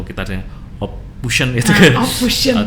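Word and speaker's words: Ophuijsen: Ophusen itu bacanya Ophausen itu. Ophausen.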